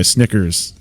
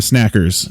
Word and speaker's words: Snickers: Grab a Snackers. And then that's like, whoop, nope. You said it wrong. Nope. I'm like, oh, fuck, it's Snickers.